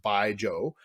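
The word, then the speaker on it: baijiu: making baijo it's it's spelled b-a-i-j-u um but pronounced by joe and with that that their their process actually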